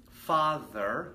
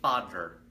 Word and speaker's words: father: Okay, so the proper pronunciation, the tongue comes between the teeth, tha. Some of you, and you should be aware of this, might actually make a duh sound. So instead of saying father, you say father.